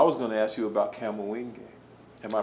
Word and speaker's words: Kamoinge: but you can, so I was gonna ask you about Kamuinge. Am I pronouncing it right? Kamuinge.